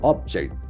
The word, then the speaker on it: object: Object as a noun, it's object. But here it is, since it is after the doer Sadishan, that must have the verb property. The accent falls the second syllable. Object. Object, like project.